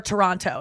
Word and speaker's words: Toronto: wrong and I go is it Toronto or Toronto and they're like Toronto and I'm like wait a second clap if it's a hard tea and they're like dead